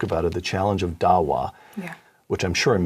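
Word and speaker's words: Da'wah: written this book about it the challenge of Dawa which I'm sure I'm mispronouncing would you just first of all pronounce it correctly and then tell us what it means Dawa is the way it's pronounced and what it means is to plead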